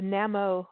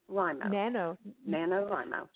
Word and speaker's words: NaNoWriMo: I mean, didn't this kind of all start over the Namo, am I saying it right? Nano. NaNoWriMo.